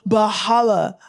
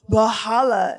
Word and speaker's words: Valhalla: Like they're like, no, it's Valhalla. And I was pronouncing it wrong. They're like, no, Valhalla.